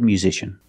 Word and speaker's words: musician: again that pronunciation musician we see the S makes a z sound with a vibration this is like in zebra musician not musician but Mew put the e sound before the U together U mu musician or this word technician